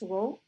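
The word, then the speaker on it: ρ: symbol is like this you can pronounce it as row and then simple correlation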